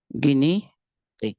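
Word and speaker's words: guinea pig: गिनी पिग, sorry, PIG, it will be गिनी पिग और गिनिया पिग। Spelling लिखने में इसको लिखते हैं गिनिया पिग या माउस।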